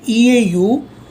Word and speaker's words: eau: is bad now entire Eau is pronounced as o the rule is e a u and a u they both are pronounced as oh expressions beautiful and Julie